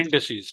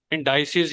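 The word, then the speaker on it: indices: इंडिसीज, ठीक है। इंडाइसिस या जी जी इंडिसीज, कुछ अपने अपने कुछ इसको इंडाइसिस प्रोनाउंस करते हैं, कुछ इसको इंडिसीज प्रोनाउंस करते हैं।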